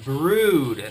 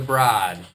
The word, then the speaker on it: The Brood: Now we're listening to The Brood, not The Broad.